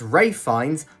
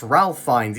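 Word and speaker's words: Ralph Fiennes: His name is Rayfind, not Ralph Fines, even though it's spelled like Ralph. It's Rayfind.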